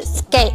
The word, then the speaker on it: Sk8: 那它其实是由 SK 加英文单词 8-8 连起来读，就是 Skate，而 High 呢就